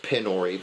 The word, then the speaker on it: PyNori: The the character is pronounced Penori, but the the the game is Pori cuz Python idiot.